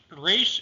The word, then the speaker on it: Resh: Resh is rolled in Hebrew. It's similar to the Spanish R. not the American R.